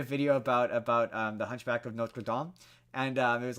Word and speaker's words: Notre Dame: there's an outtake of me doing that video where I'm like the Hunchback of Notre Dame, and I'm like I heard myself say it, and I was like, oh, that's wrong. That's wrong, and this is the internet. I can't, and then I refilmed it when I said Notre Dame. Notre Dame.